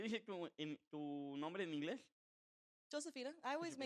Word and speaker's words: Josephina: Josephina. I always Josefina. make everybody call me Josephina. That's my name.